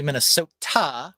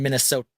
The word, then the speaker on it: Minnesota: But I'm like, it's actually Minnesota, which doesn't rhyme with Yoda. Right. But everybody in Minnesota says Minnesota. I say Minnesota. Yeah, Minnesota. Yeah, Minnesota. Water. It's a soft tap T.